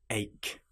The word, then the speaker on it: ache: For example, the word ache has a ch in it, but it is pronounced like a k.